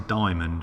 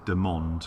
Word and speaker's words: DMOND: it's one of these i always want to say diamond but i think you're meant to pronounce it de monde because obviously if it was diamond it's got a picture of a diamond next to it but i guess there